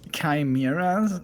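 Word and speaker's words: Chimaera: the grand final Neil is actually pronounced chimera okay thank you doctor youtube comment for enlightening me you go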